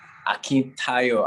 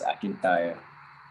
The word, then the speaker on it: Akintayo: So, could you pronounce it for me? Oh, okay. Akintayo, Akintobi. Okay. Akintayo, right? Okay. Yes, Akintayo.